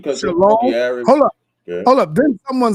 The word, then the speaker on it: shalom: When you say shalom, the O. They inserted the Y for the O. So when they're pronouncing it, they put the Y sound separate.